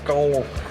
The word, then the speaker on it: Skål: have a special pronunciation because it's not just skull, it's skull. Yeah, it's a skull with Skål. A with the dot over it.